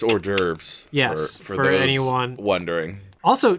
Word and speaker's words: hors d'oeuvres: let's think other things I mispronounced horse divorce well definitely horse Dover's yeah that's hors d'oeuvres yes for anyone wondering